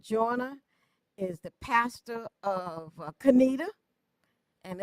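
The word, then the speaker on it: Conetoe: Richard Jonah is the pastor of Canita and it's a Baptist church out of Canita. Cornito coo. And some people call it corn toe because it looks like how it's spelled and they pronounced it how it looked.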